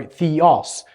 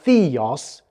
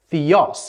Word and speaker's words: Theos: all much the same it's just where you place a little bit of stress when look at a a word so Theos for instance not Theos Theos it just tells you